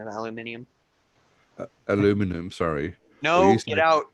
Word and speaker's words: aluminium: everybody's always like mother there's no I there I go uh actually there is it's just we drop the I like we got the